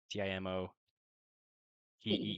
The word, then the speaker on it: Timote: Oh, how do I spell that? Timote. T I M O T E E or just one one E.